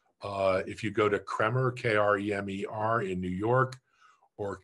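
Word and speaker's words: Kremer: anymore in america uh if you go to cremer k-r-e-m-e-r in new york or cornelison in london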